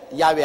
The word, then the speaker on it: 야훼: 바로 그 설악다리 꼭대기 위에 야훼 하나님이 계십니다. 여호와란 말은 원래 올바른 히브리어 발음은 야훼입니다. 야훼란 발음이 우리 한국식으로 번역해서 여호와라 하는데 원래 정확한 발음은 야훼 하나님이신 것입니다.